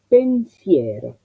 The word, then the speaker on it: pensiero: La traducción sería, la transcripción, perdón, del mío, acento, mío, pensiero. Ya veo una E abierta con una I anterior que hace el diptongo, entonces me vuelco a escribirlas correctamente desde el primer momento.